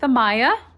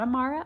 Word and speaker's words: Amaya: saying it correctly though it's like the japanese uh pronunciation but i'm gonna go with amaya not amara amaya we've been training her